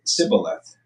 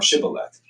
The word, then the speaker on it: Shibboleth: If he said no, they said, "All right, say Sibboleth," or Shibboleth. If he said Sibboleth, because he could not pronounce the word correctly, they seized him and killed him at the fords of the Jordan.